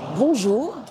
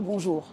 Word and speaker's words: bonjour: Il existe des sons similaires en anglais dans les mots uncle et song, par exemple.